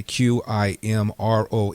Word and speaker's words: Qimron: Qimron. Mr. McConnell, would you look at the pronunciation of that? Qim like Mary, Ron like Nancy.